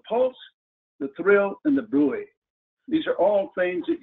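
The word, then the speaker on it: bruit: And this thrill that we feel, we can also hear, and we call it a brui. Now it's spelled B-R-U-I-T, but it's pronounced like B-R-U-Y, brui.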